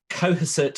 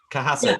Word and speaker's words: Cohasset: a trip anyway to, I'm probably going to pronounce this wrong, Cohasset Harbour. Cohasset? Cohasset.